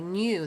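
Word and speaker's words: knew: the capitals there okay new the K is silent and new there's one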